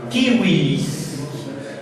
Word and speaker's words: Civilis: Y punto número 2, la letra V no es B chica, sino V, se pronuncia como una U. Entonces es Corpus Juris Civilis.